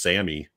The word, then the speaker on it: Salmi: saying this right, but I've always called him Albert Salmi, and I saw in the trivia that he his name was pronounced Sammy. That L is silent, as in salmon.